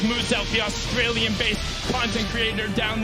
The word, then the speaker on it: Muselk: mackenzie borg and confamous now wants you to know his name is pronounced as mood self the australian-based content creator